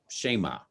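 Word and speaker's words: Shammah: firstborn, and next to him Abinadab, and third Shema. Did I pronounce that right?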